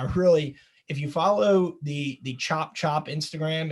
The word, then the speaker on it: Tchoup: I've mentioned this one before, but I really, if you follow the Chop Instagram, it's spelled TCHOUP. Yeah, like Chopatoulos.